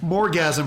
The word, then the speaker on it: Morgasm: Is that his name? Yeah, that's how you say that word. Okay, I just wanted to make sure I was pronouncing Morgasm properly.